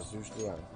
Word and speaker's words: Zhuge Liang: Yeah, Zhuge Liang. I believe that's how it's pronounced.